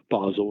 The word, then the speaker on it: Basel: has implemented or is proposing to implement Basel in a way very different from the other major jurisdictions.